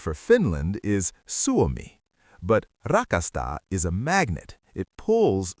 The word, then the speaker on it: rakastan: In Finnish, this is rakastan.